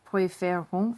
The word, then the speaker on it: préférons: And you have that accent flip here, which is why this is pronounced préférons and this is préfère.